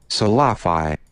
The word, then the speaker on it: Salafi: Pronounce this for me. Salafi.